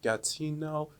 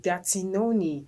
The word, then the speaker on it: Gattinoni: well, yeah, there are some other ones called Mansion Gatino. Is that how you pronounce it? Mason Gattinoni, yes, Ah, and Guglielmo Mariotto.